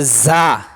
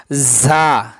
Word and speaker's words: ز: আজকে যে অক্ষরটা শিখবো তার নাম হচ্ছে যা। তার নাম কি? যা। যা অক্ষরটা র অক্ষরের মতই। দেখেন র উপরে নক্তা নাই। যার উপরে নক্তা আছে।